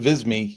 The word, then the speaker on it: Visme: And, oh God, how do you pronounce it? Visme? V-I-S-M-E? Yeah, I said Visme. You said Visme. Either one works.